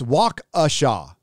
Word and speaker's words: Waukesha: media now yep walk oh it's wakasha it's that's how it's pronounced by the locals okay waukesha don't you